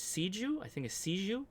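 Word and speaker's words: Xiegu: G and I should correct myself it's not pronounced i jus but I don't its seed you I think it sees you sees you anyway sees you is how you pronounce that good luck with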